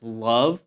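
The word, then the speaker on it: LOVB: It's known as League One volleyball. You pronounce that as love.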